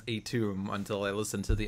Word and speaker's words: Atum: I did not realize his pronunciation was Atum until I listened to the Ennead episode of the Letters page.